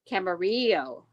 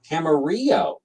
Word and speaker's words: Camarillo: Camarillo. Camarillo. Yes. Carillo. The LL is a Y sound. It's Spanish.